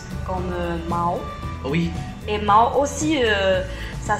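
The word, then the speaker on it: 毛: C'est pas les plumes, ça se dit presque pareil qu'un mot pour parler d'argent. Ouais. Et le plume en chinois, ça prononce comme mao.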